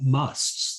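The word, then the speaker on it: mast: these states of enchantment are called musts that's spelled m-a-s-t or sometimes in in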